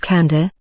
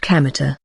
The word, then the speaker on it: Kamita: name my name is kamita he said it's written with the characters for God Kami and field God's field the man explained but isn't pronounced Kanda as you might expect it's pronounced kamita he wasn't addressing Kino